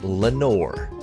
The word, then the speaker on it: Lenore: The title of a different poem and rhyming with the word nevermore.